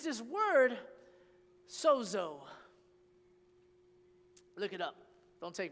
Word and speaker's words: sozo: mean to be saved and it's this word Soo look it up don't take my word for